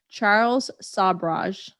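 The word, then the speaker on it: Sobhraj: And I have to make sure I pronounce his name right. Charles Sabraj.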